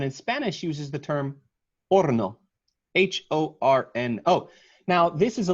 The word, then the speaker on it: horno: It's spelled F-O-R-N-O, and in Spanish uses the term horno, H-O-R-N-O. Now, this is a little bit of a sideways one because you don't pronounce the H in Spanish, but the spelling has kept it, which makes it a good example for the people watching.